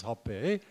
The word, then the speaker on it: Hoppé: Just for those of you who've been like me mispronouncing his name for a long time, is Hoppé. Accent aigu.